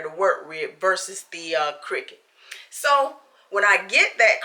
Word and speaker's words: Cricut: It's not circuit. I'm sorry, it's Cricut. It looks like it's spelled like circuit, but it's actually called a Cricut machine.